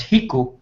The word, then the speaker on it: Rico: one would be uh Rico which we down here we pronounce Hiku.